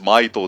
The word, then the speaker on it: Maito: Mahito, avec la prononciation japonaise, Mahito, tu vois.